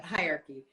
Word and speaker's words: hierarchy: i was trying to say something else but hierarchy and in the hierarchy we move from well